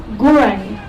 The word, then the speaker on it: Gurang: Southport was traditionally known as Gurang, which rhymes with Narang, and the word Gurang means Moreton Bay ash tree.